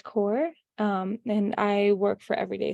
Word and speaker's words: Kaur: Yeah, it's spelled. And then my last name is Kaur, KAUR.